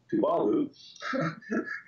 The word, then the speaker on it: Tuvalu: I've got islands like Tuvalu, and I pronounced that wrong. I apologize. Tuvalu.